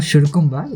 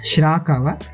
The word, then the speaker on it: Shirakawa: It's not Shirkumba, it's Shirakawa.